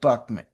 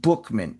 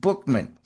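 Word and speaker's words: Buchman: Frank Buckman. Frank Buckman was the founder. Actually, it's pronounced Bookman, spelled Buckman, B U C H M-, but it's pronounced Bookman.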